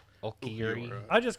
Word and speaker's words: Ulquiorra: How do you pronounce his Ulquiorra. name? Ulquiorra.